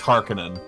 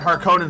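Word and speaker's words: Harkonnen: think I'm pretty sure the way that Frank Herbert intended the the word Harin to be pronounced as harinen I'm pretty sure that's how it's intended but in the it's it's just the way it I heard it har Conan first in the movies it's always been har Conan in my mind so the wrong way is the way I've always had it internalized wait you're right in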